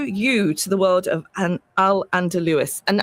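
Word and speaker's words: al-Andalus: to the world of an alderwis and am I pronouncing that correctly? Yes, it's Alandaloo.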